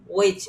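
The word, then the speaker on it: which: ওয়াই ওয়াই তাহলে এটার উচ্চারণ কি? ওইচ হুইচ না কারণ ডব্লি এবং এইচ এর পরে এইচ থাকলে এইচ এর উচ্চারণ হয় না।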